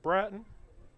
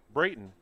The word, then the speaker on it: Bratton: for the Huskies is Matthew Bratton Brighton Bratton I said it right the first time Bratton he's a junior this